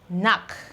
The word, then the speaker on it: knock: pronunciation let's see them I have knock knock instead of K KN K KN you can see that the K is actually omitted somehow that is it is is silent so I have Knack